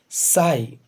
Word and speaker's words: sigh: इसमें एक वर्ड आया है SIGH, साई। इसका प्रोनाउंसिएशन है साई।